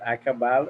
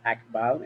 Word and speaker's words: Akbal: You can pronounce it akabal or akbal, and that's the night wisdom, also known as the owl.